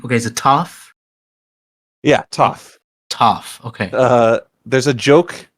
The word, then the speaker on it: Toph: Yeah, Toph. Toph. Okay. There's a joke later. I won't spoil the setup for it, but just know that it's Toph, like tough. Oh, okay. I remember. I'll remember that. Toph defeated McFoley.